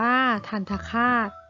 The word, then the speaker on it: ทัณฑฆาต: กัน นะ คะ อ่า ทัณฑฆาต ราคา อ่าน ว่า ทัณฑฆาต นะ คะ ธรรทดา แปล